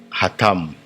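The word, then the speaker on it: אתם: Le vous c'est hatam. Il s'écrit de la sorte ha tam.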